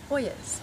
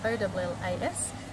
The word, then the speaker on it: ollas: Okay, so today we're here making Ollas, or it is spelt O-L-L-A-S, pronounced Ollas or sometimes Ollas.